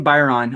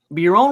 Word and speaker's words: Biron: Martin Byron of the Buffalo Sabres. Martin Biron? Biron. See, I told you. I Martin suck at Biron.